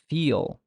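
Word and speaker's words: فيل: You cannot go very soft and say feel, feel. You notice that if I soften the L, it does not sound like a correct pronunciation. It has to sound like feel, l, l, l. There is a back or velarized element to the sound.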